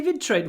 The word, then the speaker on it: betray: They betrayed what? Try again. They betrayed us. They betrayed us. It worked that time. They betrayed us. Предать. To betray. Pronunciation, betray. Remember, TR is pronounced with a sh.